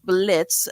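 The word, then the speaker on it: Blitzø: on with their Boss Blitz the O is silent and his relationship with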